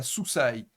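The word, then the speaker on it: סוּסַי: On va prononcer ça soussaille.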